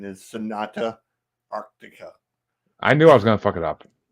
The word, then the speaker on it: Sonata Arctica: go um I'm with chansy and the correct pronunciation is Sonata Arctica I knew I was gonna